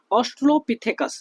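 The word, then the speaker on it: Australopithecus: देखिए, तो सबसे पहली बात जो है, ठीक है, ऑस्ट्रोलोपिथेकस, आपने नाम सुना होगा ऑस्ट्रोलोपिथेकस, मैं शॉर्ट में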